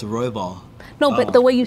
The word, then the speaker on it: Royval: No, like, because the pronunciation is different. Like Battle Royale, like in Fortnite. Oh, it's Royval.